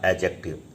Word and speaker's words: adjective: एक चीज़ जान लीजिए, अगर कहीं पर भी जे के पहले अगर डी दिया हुआ है तो वो डी हमेशा साइलेंट होता है। तो ये इसका प्रोनाउंसिएशन होगा एडजेक्टिव, एडजेक्टिव नहीं एडजेक्टिव इसको पढ़ते हैं।